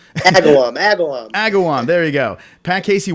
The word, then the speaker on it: Agawam: down it's gonna be Agawan I keep on saying the name wrong but it's gonna be sick it's the last place that just go just go to the website Agawam there you go Pat